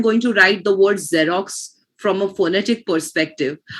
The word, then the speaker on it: Xerox: from a phonetic perspective, I will not keep in mind the fact that there is an X in the beginning, because there is no X pronunciation. What pronunciation is there instead? A Z pronunciation, right?